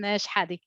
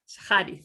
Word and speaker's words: Shehadi: Shehadi. Shehadi, thank you.